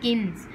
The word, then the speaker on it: kilns: देखो bake किस में होते हैं, oven में होते हैं, लेकिन उस time पर एक चीज़ word use करोगे kilns, ठीक है, एल साइलेंट है, इसे हम क्या बोलते हैं, भट्टी, भट्टी, ठीक है, फर्नेस और अवन फॉर बर्निंग उन्हें जलाया जाता था।